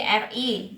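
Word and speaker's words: 日: Nah, ini RI bukan RI ya bacanya ya.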